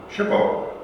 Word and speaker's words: SHPO: program of The NPS we reservationists pronounce the acronym chipo we listen when shipo Speaks now if any